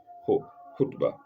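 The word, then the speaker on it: خطبة: There is no sound like that in English. Two consonants com combined. K and H combined making Hutba.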